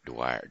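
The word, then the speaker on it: Drouillard: and an interpreter named George do riller pronounced Dwyer to rewire and additional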